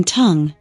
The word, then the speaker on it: tongue: bold in questions 1 10 have silent letters silent letters u in tongue G in foreign e in Native two what